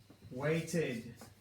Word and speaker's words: waited: the ID for example waited waited and decided waited decided for this third example I'm actually adding a syllable to the word waited wait is a one syllable word weighted decided decide is